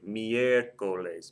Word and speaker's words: miércoles: The next word, Wednesday, miércoles. Miércoles. The E is the third or more syllable back, accent mark over it.